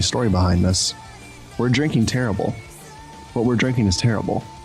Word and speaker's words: Terrible: in question is uh terrible i believe it's actually uh supposed to be pronounced in the in the french way so it should be like tarib or something like that